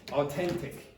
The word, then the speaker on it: authentic: Okay, so where's a range of authentic texts. By the way, I pronounce this the way an Irish person would pronounce it. So I said authentic instead of authentic.